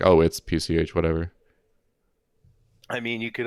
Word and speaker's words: PCH: I was like I tried to pronounce it as one word but then it was actually it's PCH but again there's that